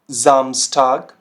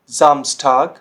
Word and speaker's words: Samstag: अब ये क्या साउंड करेगा, देखिए तो ये साउंड करता है आपका, जो देखिए जी, जैसे हमारा वर्ड होता है जीब्रा, ठीक हो गया, जीब्रा। जैसे zum Beispiel Samstag, Samstag, Sohn, Sohn, Super, Super।